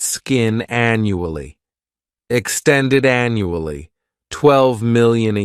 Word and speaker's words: annually: first adverb is annually this word has four syllables and the stress is on that first syllable the the second syllable it's like you're just saying that letter U and the third syllable has that chuah annually this adverb means